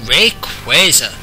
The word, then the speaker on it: Rayquaza: in the game a Rayquaza and yes that is how it's pronounced this is his last part of his name comes from quasars B still alive phenomena